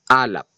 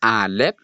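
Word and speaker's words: אלף: So ang first letter is alap. And take note, hindi po yan alf kasi walang letter E sa ancient Hebrew letters.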